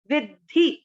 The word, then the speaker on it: विद्धि: कई लोग इसको विधि पढ़ते हैं, ध्यान देंगे आधा द है, आपको इसको इस तरह से बोलना है विधि विधि। ठीक है, पहला चरण वापस, रजो रागात्मकम विद्धि।